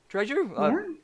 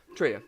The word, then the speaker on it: Trejo: Trejo? Sorry, I mispronounced the name. I'm so sorry if I get any mispronunciations. Trio.